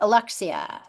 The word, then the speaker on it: Alexia: So for Alexia or Alexa, is it Alexa or Alexia? I want to make sure I pronounce it right. It's Alexia. Yeah. Alexia.